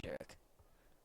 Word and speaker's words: Sherrick: Hayden Shirek. I still think it's Sherrick. It is Sherrick. You've been saying it wrong this whole time.